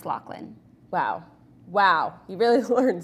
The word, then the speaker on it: Loughlin: It's spelled Loughlin, but it's pronounced Locklin. But it's a G and an H. But it's pronounced Locklin.